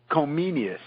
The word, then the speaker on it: Comenius: John Amos Comenius. Comenius. Subgenius Comenius. Okay. Well, in Czech, I think they say Komensky. In German, they use the Latin name as they would call him then Comenius, not Komensky.